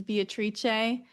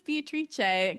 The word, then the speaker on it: Beatrice: current partner about um I love how they pronounce the name Beatrice in Italian which is Beatrice. So I would love I think I would choose that name, but that would be one that no one would pronounce correctly cuz they would see Beatrice, but I would be like, "No, it's Beatrice."